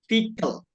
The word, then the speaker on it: vehicle: Tapi cara bacanya the better one is vehicle. So we erase the high, kita hapus high-nya, tapi kita pronounce-nya vehicle.